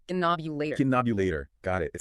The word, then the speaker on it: Ghinknobulator: The historical pronunciation is Higgins Ghinknobulator.